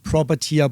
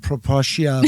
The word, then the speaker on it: Propertia: domain then um we said okay it is pronounced propera Bali right not propia Bali or anything propera Bali uh it was